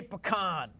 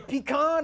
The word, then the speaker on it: pecan: Zak you're from Louisiana how do you say pecan you say pecan or pecan and now what's your answer Sepik on Supergirl say pecan I say pecan really oh yeah so